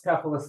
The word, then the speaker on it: Cephalus: pronunciation valve so yes cephalus or cephalus cephalus in Greek selfless in English and I can't keep it straight so I just go between the two so either's fine yes Socrates fantastic uh